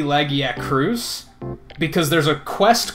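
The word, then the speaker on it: Lagiacrus: is a good example I always pronounced it laggy Agra's I think it's supposed to be laggy at cruise because there's a quest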